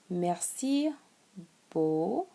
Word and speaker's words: merci beaucoup: You can also say merci beaucoup.